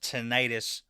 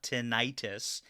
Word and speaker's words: tinnitus: Anyways, I got stuck down the rabbit hole of, okay, is it pronounced tinnitus or tinnitus?